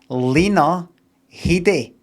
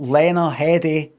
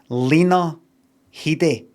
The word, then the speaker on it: Lena Headey: You pronounce her name Lena Headey. And that's her who has said that. Not Lena Headey or anything like that. Lena Headey. She says it.